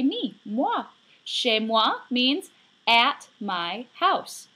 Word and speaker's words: chez: C-H-E-Z, not pronounced chez. It's pronounced chez.